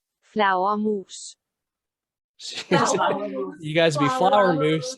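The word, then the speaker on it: flagermus: were danish this is this is spelled completely different than what it sounds like it's spelled like f-l-a-g-e-r-m-u-s but this is how it's pronounced flower mousse you guys be flower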